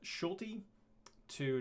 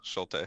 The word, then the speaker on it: Schulte: with uh Schulte to did I say wrong again no shelter okay I think I said I said it wrong a couple weeks ago but yeah you said uh you flipped the L on the U I did I did